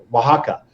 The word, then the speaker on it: Oaxaca: In Oaxaca, it's weird. It's hard to pronounce because it's spelled like exo or whatever.